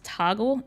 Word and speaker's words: Toggl: So one thing I would recommend, like if you haven't tried it already, is Toggle. It's spelled Togg and the letter L. So it's not Toggle spelled correctly, but if it's just Google Toggl, you can set a timer.